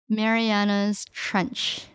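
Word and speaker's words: Marianas Trench: Mariana's Trench. Is silent S? No, you pronounced the S.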